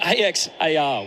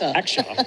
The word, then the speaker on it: Axar: the Axar Patel. My apologies at that point. I was confused for a minute. I was the AX AR which uh is is pronounced Axar.